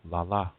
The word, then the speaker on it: lala: little children say grandpa, they say la la, accent on the second syllable la la.